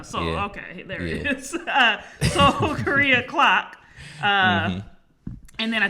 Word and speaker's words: Seoul: is it soul? I don't know how to pronounce it. We don't know. Soul, okay, there it is. Seoul Korea clock.